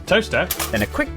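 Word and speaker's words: Towcester: to mouso mous next travel North up to toester toter then a quick J to Gotham goam followed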